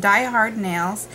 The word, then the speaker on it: DIY Hard Nails: DIY hard nails with they're pronounced Die Hard Nails um this is a